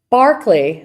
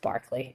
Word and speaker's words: Berkeley: by his distinctive personality Barkley so it's spelled Berkeley but it's pronounced Barkley if I'm not mistaken someone can sanity check that if you want Barkley and Hume could follow